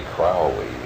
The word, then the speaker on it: Crowley: my name is Aleister Crowley because that I am Holy my enemies say Crowley and wish to treat me fouling so now you'll never